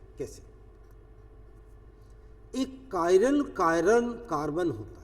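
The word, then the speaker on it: chiral: करते हैं और ये कायरल कार्बन कहलाता है। इससे एसिमेट्रिक कार्बन भी कहते हैं, कायरल भी, कुछ लोग इसको चिराल करके भी प्रोनाउंस कर देते हैं। अलग अलग दुनिया में अलग अलग प्रोनाउंसिएशन।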